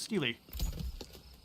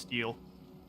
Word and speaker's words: stele: And then we will finally now build our Pharaoh's Stele, Glory is ours. which I believe is pronounced steel.